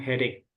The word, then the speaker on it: headache: again stom heada jadi e di sini bacanya pakai k heada gimana headaik heada ya kayak gitu enggak ada enggak ada s-nya tapi langsung headache Oke once again coba